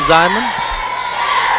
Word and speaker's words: Zeman: Ball at the top of the key to Zyman. Over to Brooks, back out top to Eubank. And I believe that's pronounced Zeman because I remember his brother,